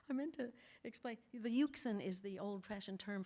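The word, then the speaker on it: Euxine: hero travels across the uken in a in very bad weather and what do you suppose he rhymes with uken pukin okay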